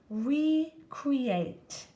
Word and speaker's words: recreate: Recreate, and this has a super silent E at the end.